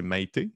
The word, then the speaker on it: Maïté: J'avais pris contact avec, je ne pourrais pas comme mal prononcer son prénom, je pense que c'est Maïté, c'est bien ça? Oui, exactement.